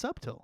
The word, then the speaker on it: subtle: now you keep now you keep making the be silent it's not pronounced that way it's subil subil okay no I'm just